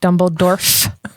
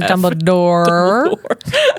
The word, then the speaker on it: Dumbledore: in a velvet and his name is not dumbledor it is Dumbledore with an r that way exactly say it that way now dumble door um